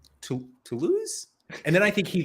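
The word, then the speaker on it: Toulouse: like oh my God tool house tool house sorry for anyone who hasn't watched or listened to S Andrews last week Andy somehow decided to pronounce to lose as tool house legendary house love it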